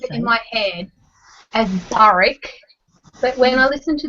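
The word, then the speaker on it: Burrich: i kind of said barrack with the k sound at the end when i read it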